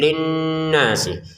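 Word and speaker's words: لِلنَّاسِ: Jadi linnasi ini kita dengungin linasi si ke wau langsung saja ya. Tidak ada di sini tanda panjang sehingga jangan dibaca linnasi wa gitu ya.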